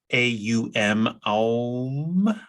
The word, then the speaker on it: om: we have the seed sound of om which is pronounced a um which is for the